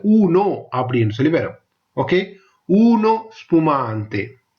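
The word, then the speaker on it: uno spumante: Okay, ஊனோ ஸ்புமாந்தே, ஊனோ ஸ்புமாந்தே. ஊனோ வடிவா உச்சரிக்கணும், ஊனோ ஸ்புமாந்தே.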